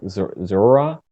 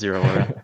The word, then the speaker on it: Zeraora: I was pronouncing it like Zora. Zeraora, yeah, I don't even know. I think it's Zero Aura.